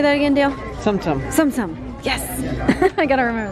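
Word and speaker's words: Tsum Tsum: Sumsum.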